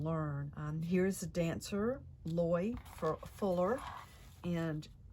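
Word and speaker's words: Loïe: um here's the dancer loy fuller and the eye has got this accent here i guess that's pronounced alloy i took some little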